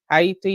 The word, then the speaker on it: Haiti: Gaza but Sudan Congo Haiti hati if you want to pronounce it correctly to gray all of